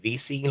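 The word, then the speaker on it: VICI: the ticker sorry Vichy I've also heard it pronounced VC like v-i-c-i I believe it is oh yeah yeah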